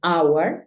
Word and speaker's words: hour: Pero hay algunos casos, como 4 palabras en las que la H es muda. Por ejemplo, hour, que es hora.